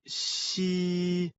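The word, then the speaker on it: 嘻: dredge the kidneys Meridian the pronunciation of XI like the English word she but with the tongue touching slightly the bottom teeth the pronunciation is assisted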